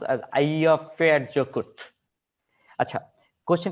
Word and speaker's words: Eyjafjallajökull: This is Icelandic names but it's sort of like pronounced as Eyjafjallajökull.